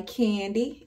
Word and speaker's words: Qandy: name jewelry business and it's called I candy and candy is spelled q a n d y i e ye